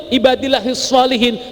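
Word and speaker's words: عباد الله الصالحين: waala ibadillahi heels Solihin itu yang betul ibadillahis Shalihin tapi kalau sampeyan salah membacanya shotnya ndak sesuai dengan maksudnya tapi asal shotnya menjadi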